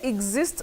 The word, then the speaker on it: exist: So do we say exist or exist? You say exist. That E, there is something called vowel transmutation.